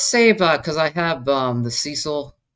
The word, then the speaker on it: Cecil: Let's save because I have the Cecil. I didn't pronounce that right. The Cecil, I believe it's pronounced Cecil Hotel out in California.